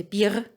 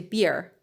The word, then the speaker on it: Bier: You don't say Bier, you say beer. So the beer, it's not an r sound.